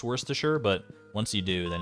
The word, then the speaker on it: Worcestershire: sauce or cestershire sauce Worcester Shire oh that's that's that hurts me to even say Worcester Shire no Worcestershire it took me a little while to wrap my head around why it's pronounced Worcestershire but once you do